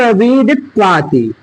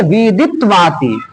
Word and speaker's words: विदित्वाति: फिर नीचे क्या लिखा हुआ है कि तमेव विदित्वाति। तमेव विदित। देखिए द के बाद क्या है? द में छोटी की मात्रा है, फिर उसके बाद आधा त है, तो इस द के